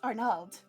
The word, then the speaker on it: Arnold: Arnold, you. Oh. I believe his name is pronounced Arnald. It is. That's not the right name. It's fucking pronounced Arnald.